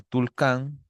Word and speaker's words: Tulcán: De Carchi podríamos poner Tulcán, que si es que me pongo a pensar, se relaciona con, o sea, más o menos tiene la pronunciación de Tucán, ¿no?